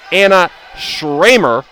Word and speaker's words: Anna Schramer: with anna schramer serving so i apologize if i pronounced her name incorrectly earlier it's anna schramer flat serve reception by